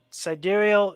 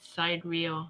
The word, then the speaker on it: sidereal: Sidereal is with the stars. Tropical is with the seasons. So, I was saying it wrong. yeah. I think I said side reel because Sidereal.